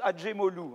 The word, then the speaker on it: Acemoglu: Donc, Acemoglu, on prononce Adjemoglu, en fait. Hein, voilà. C'est un nom arménien turquisé, en fait.